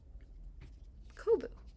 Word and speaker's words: Kobu: That's how you pronounce it. Kobu.